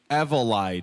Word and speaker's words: Evollyd: Why don't you guys go ahead and pronounce this for me one more time? You can do it. I believe in you. Evollyd. You figure it out. Evollyd.